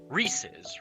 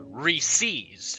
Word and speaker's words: Reese's: world like it's pronounced Reese's right box like when you agree and you're yeah that's how you pronounce it apparently up here in New England there's a big argument that people say re-seize welcome Zoom uh you